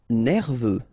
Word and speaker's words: nerveux: négliger d'age mur minimum nerveux. Final X not pronounce e u E veux nerveux bruyant final not pronounced